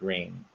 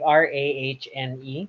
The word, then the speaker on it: Rahne: for the longest time I kept thinking her name was Rani Sinclair, Okay. only to learn later on everyone else pronounced it Rain. Hmm. I wouldn't know. Yeah, I wouldn't know. It's like Rahne.